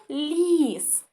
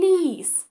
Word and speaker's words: ліс: лис Дивіться це лис ні правильно це ліс і послухайте як я вимовляю букву Л ліс вона така м'яка ліс зробивши це завдання ми